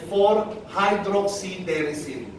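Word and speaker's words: 4-hydroxyderricin: Santoangelol and 4-hydroxyderesin.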